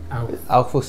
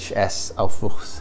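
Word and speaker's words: Aufwuchs: How do you spell that? Sorry. Aufuchs is a German word. A-U-F-W-U-C-H-S. Aufuchs. Aufuchs.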